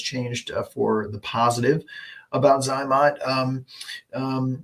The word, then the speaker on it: Zote: for the positive about zot um um some call it zote I think Z OTE is technically the the correct pronunciation but we're lazy around here so it's easier for us to say zot don't tell them we